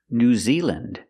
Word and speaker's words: New Zealand: Iceland, Greenland, New Zealand. Again, we're pronouncing them with the short sound, lind.